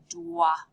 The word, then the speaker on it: dois: This one is je dois. Remember, the O-I is pronounced ois en français.